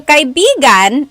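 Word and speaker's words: kaibigan: depending on the context so kigan is friend kigan do you do you hear how I'm saying it kigan now if I change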